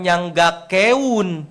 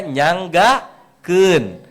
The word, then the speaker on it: nyanggakeun: Nah, sekarang yang kedua nyanggakeun nyanggakeun kalopak e dan u itu bacanya bukan nyanggake keun ya, tapi dibacanya nyanggakeun.